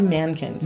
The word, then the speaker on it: Mahnken: chapter of life and the H by the way is silent so if you're looking at the major another we give it a little breathy bang yes but if it's actually Mankins you just take out